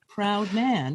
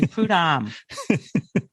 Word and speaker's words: Prudhomme: You're part French, and you can't even pronounce your last name properly, which is Prudhomme, proud man. Oh, I pronounce it properly. No, you don't. You say Prudhomme.